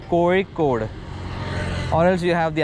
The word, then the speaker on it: Kozhikode: So it's not Kozhikode. ZHI has the pronunciation of Re.